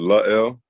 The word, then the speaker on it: La'el: right so you say my first name it's l um but everybody just calls me l so just call me hell or doesn't